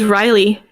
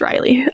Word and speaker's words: Reilly: the chat just mentioned riley or i don't it's it's spelled r-e-i-l-l-y i believe yeah like she's a human like the city yeah right um or like o'reilly auto parts yeah i is know